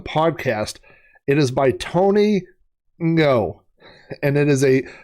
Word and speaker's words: Ngo: It is by Tony Ngo, and NGO is a pronunciation that is pretty difficult for Americans to reproduce, but I want to get the guy's name right, and I've been practicing it. I looked up a pronunciation guide online, and it says that it is the same sound that is at the end of the word wrong.